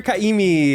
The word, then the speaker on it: Ka'imi: We have the wonderful, the gorgeous, the hilarious Kaimi. Hello. Nailed the pronunciation, by the way.